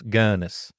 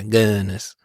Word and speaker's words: Gunness: heard it both ways do you think it's GIS or ganess G gunis yeah gunnis sounds more like you're not saying it right it's gunis yeah gunness yeah all she had